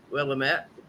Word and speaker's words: Willamette: My ex-husband looked at me, he goes, "How do you pronounce that?" I read it, I went, "Willamette."